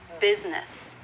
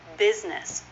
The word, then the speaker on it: business: not the actual pronunciation that is a two syllable word business business both syllables have the